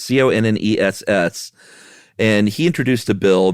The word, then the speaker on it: Conness: And one of them was a senator in California named, I don't know if it's pronounced Conness or Conness. It's Conness.